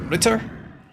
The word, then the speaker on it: Ritter: Ritter. That's cool, man. That's a cool name. Sounds like Rita from accounting, you know?